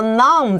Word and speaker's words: numb: 所以刚刚老师讲到 numb 这个字 N-U-M-B 那个 B 不发音，就是让你嘴巴麻掉了，就是没有感觉了。所以这也是为什么有人觉得他 numb 之后呢，他还是要继续吃，因为他一直不断的麻痹自己，最后就把自己训练成非常会吃辣的人，也有这样的可能。